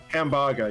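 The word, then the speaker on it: ハンバーガー: in japan no so the japanese word for hamburger is hamburger something like that pronounced like that hambaga yeah uh so my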